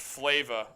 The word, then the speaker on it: Flava: It's pronounced Flava. Oh, I just misread it. Yeah, I was going to say, it's like Flava Flav.